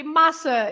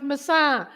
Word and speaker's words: maçã: The tilde on the last A makes the word stressed on that part of the word, the last part.